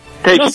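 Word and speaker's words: Letsch: Teşk, evet. Teşk diye mi telaffuz ediliyor? Teşk diye okunuyor, evet. Teşk. Thomas Teşk, ya. Teşk, pardon. Sonu T ile bitiyor, Teşk.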